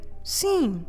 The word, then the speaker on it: sim: And it is again nasal, so you know what you need to do. You need to leave your mouth open in the end, so don't close your lips.